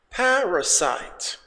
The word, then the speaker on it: parasite: Let's go to number 6, which is parasite. The stress is on the first syllable. Parasite.